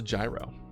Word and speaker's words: gyro: It's like a soft G. Gyro. Euro. Oh. So the G is like a y sound.